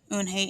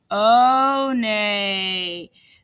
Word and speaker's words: Eunhae: "Eunhae," said Eunhae. "Oh, nay," the girl asked, scrunching up her face. Oh, nay," some kids chanted. "No, Eunhae corrected.